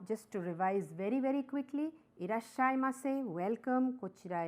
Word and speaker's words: irasshaimase: Irashaimase, slightly rising intonation.